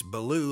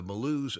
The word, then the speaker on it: Bellew: of the day today it's blue like i was talking and you can spell it almost like bellows sometimes or b-e-l-l-o-w that'd be almost like below but b-e-l-l-e-w is probably